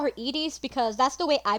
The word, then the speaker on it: Iris: it so I'd also I know it's supposed to be Iris but I'm gonna call her edies just like I did just like I did in John's tribulations because because that's how I've always pronounced it so if you're gonna